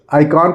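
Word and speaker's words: icon: लिखा हुआ है दोस्तों आई सीओ एन क्या आइकन पढ़ेंगे इकान पढ़ेंगे क्या पढ़ेंगे आइकॉन क्या पढ़ेंगे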